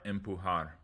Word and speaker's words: empujar: Jugar, empujar. The J sounds like an English H. It's the exact same sound as the soft G.